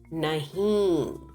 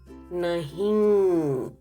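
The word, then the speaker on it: नहीं: No or not is nahi. Observe the nasal sound nahi. Underline N, not to be pronounced, only indicating nasal sound.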